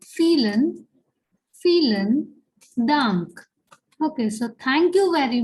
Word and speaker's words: vielen: And here this word starts with V, but we know that the sound of the letter V in German is that of F. Okay. So that's why it is vielen Dank.